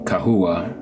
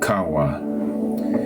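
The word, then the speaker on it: חוה: I actually pronounce her name Kahua. Some people pronounce it Kawa.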